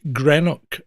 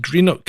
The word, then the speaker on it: Greenock: How do you pronounce Greenock? And that's spelled exactly like it sounds. Green and OCK. And all English people I've ever met have said Greenock. And no, it's pronounced Greenock, exactly how it's fucking written.